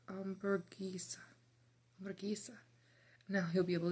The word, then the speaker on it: hamburguesa: Hamburger in Spanish, you say hamburguesa. It's pronounced hamburguesa.